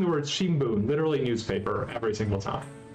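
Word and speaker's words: 新聞: She's saying the word Shimbun, literally newspaper, every single time. So that is your thing you have learned today. You have learned how to say the word newspaper in Japanese, Shimbun.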